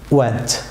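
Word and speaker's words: wedge: যেমন ওয়েজ viewers, এখানে D silent থাকবে ওয়েজ ভিউয়ার্স।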